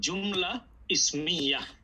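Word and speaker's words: جملة اسمية: আমরা এভাবে বলবো জুমলা ইসমিয়া, এই তাগুলো কি হবে, তাগুলো হায়ের মতো উচ্চারণ হবে, জুমলা ইসমিয়া।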